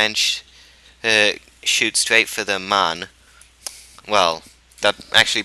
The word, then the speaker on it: Mun: shoot straight for the Mun. Well, that actually pronunciation differs. Some people say it with the umlaut thing, and some people don't. If it is with the umlaut, it's like the Moon.